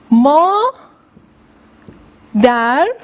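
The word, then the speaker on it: مادر: Ya da ma der moder man reft. Şimdi arkadaşlar bakınız mader. Bakınız D üzerine E harfi geliyor. Mader. R. Madere. Mader yani annem.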